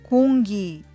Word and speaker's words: 공기: の感じは今 7 day 空気はホンギとなりますでは皆さん 3